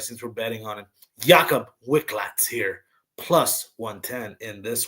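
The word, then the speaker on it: Jakub Wiklacz: Let me pronounce his name right since we're betting on him. Jakob Wicklax here.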